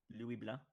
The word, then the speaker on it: Louis Blanc: Louis Blah. You don't even pronounce the C or the N. Uh, the C is not pronounced if you say in French.